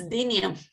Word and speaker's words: dynia: I don't know if it is some difference between one alja or dynia, and if the pronunciation is dynia or dynia. I don't know the correct way to say it. It's dynia.